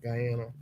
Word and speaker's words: Guyana: Guyana is that how you say it yeah Guyana all right well yeah look I mean this